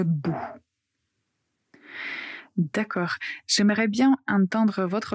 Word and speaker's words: bout: Et retenez bien, quand vous prononcez le mot bout, il ne faut pas prononcer le le u français mais juste ou bou. Il y a une grande différence. Donc il faut vraiment faire attention et prononcer ou le bout.